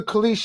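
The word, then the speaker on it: Kalshi: The Kish app. That's a good segue. Khap. It is spelled K A L S H I. Kish.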